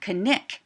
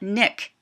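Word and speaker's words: Knik: w was pronounced can Alaskan natives also pronounce the Ken so Kik arm is pronounced kenik not Nick you can tell where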